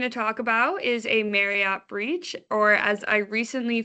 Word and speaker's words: Marriott: talk about is a Marriott breach, or as I recently found out, it is pronounced Marriott, not Marriott. I have pronounced it Marriott my entire life, so I don't know